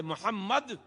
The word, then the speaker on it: محمد: ان کا محمد ہے۔ جب آدمی کہتا ہے محمد تو میم کے تلفظ کے وقت میں اس کے دونوں ہونٹ مل جاتے ہیں۔ گویا اللہ کا رسول